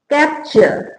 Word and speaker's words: capture: जब वर्ड में टी के बाद URE हो तो टी एक संयुक्त अक्षर के रूप में उच्चारण किया जाता है, तो वो क्या बनता है? च। उच्चारण क्या हो जाएगा? च।